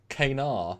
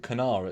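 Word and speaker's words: kanar: cairo syrup oh so so it's knar it's not canara it's kate yeah i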